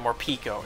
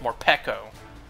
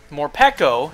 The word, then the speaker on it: Morpeko: and morico or I used to call it morpo it's technically pronounced morco morco is small so it's going to be a